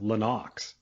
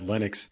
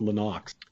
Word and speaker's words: Lennox: about lennox lewis yeah his name is actually pronounced lenox he just says that he doesn't correct anyone because he realizes that linux is the uh regular pronunciation of it oh